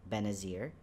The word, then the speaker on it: Benazir: my my full name is right here it's pronounced benazir and i shortened it to ben for the